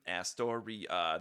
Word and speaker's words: Astoria: It's a 4-syllable name, Astoria, that ends with an ia, Disturbia.